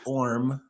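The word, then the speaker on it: Orme: Sam Orm, it's Orm for those that don't know. The E is not pronounced.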